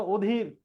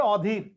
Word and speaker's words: অধীর: এরপরে এটা অ এর পরে ধয়ের সাথে দীর্ঘই আছে, তাহলে অয়ের উচ্চারণ ওর মতো হওয়ার কথা, অধীর, কিন্তু এটা অধীর না, এটা হবে অধীর।